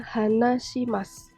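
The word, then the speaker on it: 話します: atau hanashi atau Wak kalau ditambah Simas di belakangnya maka dibacanya hanashimasu berbicara hai lalu kalau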